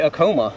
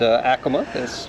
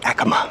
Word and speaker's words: Acoma: Okay, I used to say Acoma, but Acoma. Sounds a little better. I used to say Acoma too until a Native American came up to me and said the correct pronunciation is Acoma.